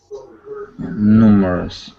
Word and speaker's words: numerous: last word here is the word numerous numerous okay yep with that accent right at the very beginning okay other than that